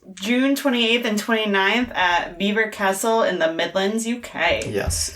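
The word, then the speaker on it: Belvoir Castle: to make vanilla raccoons beaver beaver it's called Beaver Castle what that's how you pronounce it it's ridiculous Carlo was absolutely right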